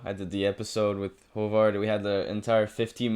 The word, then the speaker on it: Haavard: I pronounce it right if I say hovard is that better yeah hovard is hovard is pretty close yeah there you go